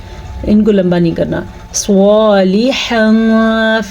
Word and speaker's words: صالحا: صالحا فلہم، سواد کو پور پڑھنا ہے، سواد کے حروف مستعلیہ میں سے ہے اس لیے. لام زیر لی، اس کو